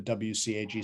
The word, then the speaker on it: WCAG: you can follow the wcag standards w cag is how i pronounce it but other people pronounce it different different ways if you follow those